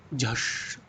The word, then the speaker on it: झष: चपला, तोय निधि, अक्षी, झष। झष सही तो पढ़ रहा हूं मैं। झ हो गया श, झष।